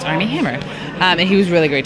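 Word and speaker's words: Armie Hammer: with army hammer which I always say his name and I'm like Armand Hammer right now it's army hammer and he was really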